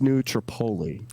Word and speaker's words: New Tripoli: to his show and by the way it's New Tripoli oh that's right I always say it wrong I'm sorry New Tripoli